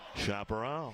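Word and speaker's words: Chaparral: chaparal product chaparal product or as to say it correctly chaperal chaparal no gain second down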